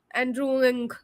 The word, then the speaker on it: Andrew Ng: people know of Andrew andrewing is how he pronounces his name Andrew NG uh he's a professor